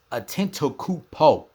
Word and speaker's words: Antetokounmpo: And how you pronounce his last name is Antetokounmpo.